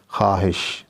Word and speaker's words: خواہش: طرح درخواست نہیں ہے، خواہش، ٹھیک ہے، اس میں بھی خے کے بعد واو ہے لیکن اس کی آواز نہیں آتی جب ہم اس لفظ